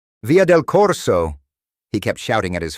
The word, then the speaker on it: via del Corso: The automated voice was pronouncing the Italian street names with a perfect Italian accent, like via del Corso. He kept shouting at his phone. "No, it's VR del Corso.